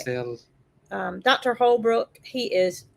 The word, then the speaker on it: Brucellosis: So brucellosis has been eradicated from cows and goats and